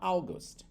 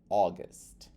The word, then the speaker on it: August: no começo e daí o brasileiro vai tentar falar August só que se você substituir esse a u por ó ele vira August André Então é essa pronúncia de August é você tem som de ó porque o a mais